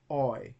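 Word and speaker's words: οι: Omicron, I add iota to it, and it becomes oi as in boil.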